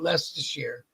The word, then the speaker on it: Leicestershire: and it's spelt all fucked up, but you pronounce it Leicestershire.